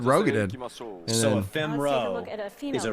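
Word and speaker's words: Roegadyn: Continuing on to a Rugadin male. I say Rogadin.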